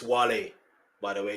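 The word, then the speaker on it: Wale: This is the end before teaming up with Whale and Eminem for the Monster, another chart smashing. Uh, they mispronounced his name. It's Wle by the way. It's Wle and he's Nigerian, just so you know.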